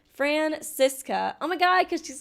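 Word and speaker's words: Franziska: to decide Mr attorney oh it's pronounced francisa oh my God cuz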